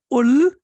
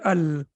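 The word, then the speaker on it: ال: with we cannot say ul and we cannot say ill we have to say Al that's the only thing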